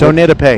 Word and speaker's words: Onidape: Now, I've heard both pronunciations, and it's Onidape.